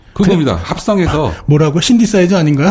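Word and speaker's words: synthesizer: 우리가 그 악기 연주할 때 건반 중에 신티사이저 있지 않습니까? 네. 그겁니다. 합성해서 뭐라고? 신디사이저 아닌가요? 아 그렇죠. 그게 쓰 발음이 나갔고요.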